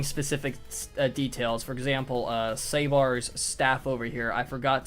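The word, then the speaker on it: Sébar: And this guy's name, the goat looking guy, his name is Sabbar. That is spelled S E the little accent. B A R. Sabbar. Okay. It's very important that you have this accent.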